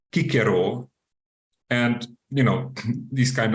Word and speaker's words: Cicero: we know that uh the name Caesar was pronounced in fact kaisar or the name Cicero was in uh fact pronounced kikero and you know this